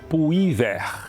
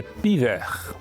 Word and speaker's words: Puyvert: Vale aqui um parêntese que é lembrar que os franceses não pronunciam essa letra U. Então eles dizem que a cidade é piver.